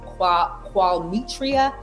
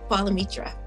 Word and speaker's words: Qualimetra: It is Qualimetra. Qualimetra, like quality. Qualimetra.